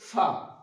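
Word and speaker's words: ف: গন তারপর আছে ফা উচ্চারণ করার সময় আমরা করব ফা উপরের যে সামনেকার দাগ ওই দাগ নিচকার ঠোটের উপরে লাগিয়ে উচ্চারিত হবে ফা এবং একটা বাতাস বেরবে সিটির মত নয় জাস্ট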